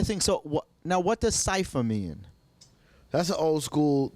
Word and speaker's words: Cipha: So it's really cipher, but I spell it with an A because that's just how we used to do it in the 90s hip hop style. So people call me Cipha. I hate that. It's cipher.